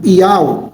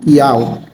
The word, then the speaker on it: Yahweh: Então, na sua criação está o seu nome, Yahweh, a pronúncia do seu nome, Yahweh.